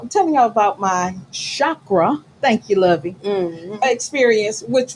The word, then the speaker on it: chakra: And the chakra, did I say that correctly?